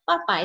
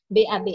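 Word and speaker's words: 爸爸: cuma ingat di sini walaupun haninginya b a ba a Tapi bacanya bukan Baba tetapi papa ya karena B kan bacanya P ya oke mama itu Ibu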